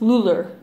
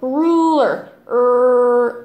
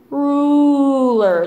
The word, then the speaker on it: ruler: like you know if they say become the pronunciation error is Muller for Asian speakers just say oh nice try no ruler ooh ruler just kind of stretch it out and break